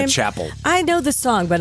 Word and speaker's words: Chappell: Is that how she pronounces her name? Yeah, Chapel.